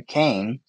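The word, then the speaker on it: Kayin: That's Cain and Abel, right? Yeah, it's spelled very differently here, so it's K-A-Y-I-N, so I guess it could be pronounced Cain, and a tiller of the ground.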